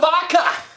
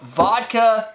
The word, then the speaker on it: VDKA: So the vodka VDKA, I don't know if it... VDKA. I would pronounce it vodka still.